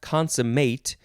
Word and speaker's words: consummate: that next word is the second form of this but it is pronounced consummate it is a verb from